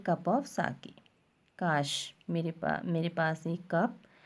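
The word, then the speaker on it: sake: सा is pronounce like फा इन father, and के राइम्स विद वे, जैसे फादर में फा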